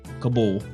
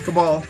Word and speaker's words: Cabal: Mortal Kombat 11's roster expands as Kabul. You're supposed to say it right. It's Cabal.